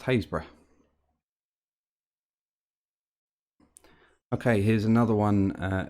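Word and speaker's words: Happisburgh: me the way to happiesburg please uh in norfolk it's pronounced hayes bra okay here's another one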